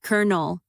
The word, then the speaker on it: colonel: Net result C O L O N E L equals kernel.